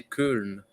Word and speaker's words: Köln: It's inspired by the Cathedral of Cologne, or in German you say Köln.